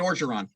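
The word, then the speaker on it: Orgeron: it's the enemy and orcheron or i don't know how to pronounce his last name it's like just pronounce it like the state oregon to say oregon you know who you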